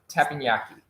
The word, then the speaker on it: Teppanyaki: Again, Rocky does all of my pronunciations. That one's Teppanyaki.